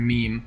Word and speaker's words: meme: dad used the word meme. He pronounced it wrong, and I was like, ooh, that doesn't sound good in real life. He said may, and I was like, ooh, that sounds horrible.